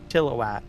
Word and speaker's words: Chilliwack: And slightly the I in there, chilla, right? A little bit, not so much of an emphasis on I. Chilliwack, right? Can't even hear the I when I pronounce it. But there's a lot of people, they'll say chili whack, chili whack.